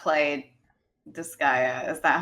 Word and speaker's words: Disgaea: kind of tedious so i will not play disgaea is that how you say it yes this